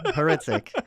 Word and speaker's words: Hrycyk: in Brandon and then HR y c y k as my last name heric so that long combination